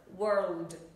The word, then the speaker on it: world: À, muốn nói là từ này nhá, mình gọi là slow motion lại cho các bạn nhìn này. Đầu tiên là âm W này, W, very easy. Âm số 2 này, the second sound, R, R, R. Vậy các bạn nhìn miệng mình, W.